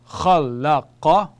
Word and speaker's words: khalaqa: So we have khalaqa, khalaqa, khalaqa. And they are all short vowels, so when we are pronouncing the words or these letters, we have to be very short in each one of them.